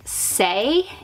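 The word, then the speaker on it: Saie: This is, I believe, pronounced Say.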